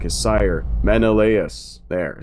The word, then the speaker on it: Menelaus: time of its destruction, much like his sire, Menelaus.